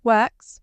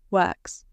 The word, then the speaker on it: works: When you say works, make sure you pronounce the final SC sound gently. Not work, but works.